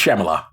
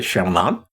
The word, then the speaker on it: Shyamalan: It's Shamala they say Shamala. I don't know why you hear that. Yeah, I not Shyamalan. There's an N. Shyamalan. His name is pronounced with an N.